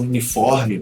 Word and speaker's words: uniform: Mas na hora do rolê da pronúncia eu não participo. Então, a palavra uniforme, por exemplo.